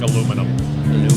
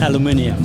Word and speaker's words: aluminium: And we're going to have conversations about how he pronounces words that I don't pronounce like he does, like aluminum. How do you do it? Aluminium.